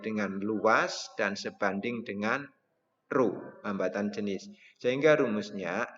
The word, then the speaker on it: rho: Ini bacanya rho.